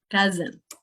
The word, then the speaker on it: cousin: And you need the vibration and the schwa, cousin.